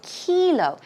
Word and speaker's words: kilo: kilometer now we don't say Killough we say kilo it's a long easy sound so it's kilo kilo all right we're done